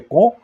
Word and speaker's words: Caen: Eles precisavam desembarcar na praia, vencer as defesas da praia, conquistar as cidades de Caretã e Com se escreve Caen, né, em português literalmente, mas se pronuncia Com.